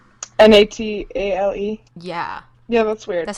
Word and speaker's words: Natale: Natale. Yeah. Yeah, that's weird. That says Natale. Yeah, it's usually IE, Natalie. Yeah. That's Natal. Natal. Hi, Natal. Hero Natal. Not tail. Alright. Not tail. No tail.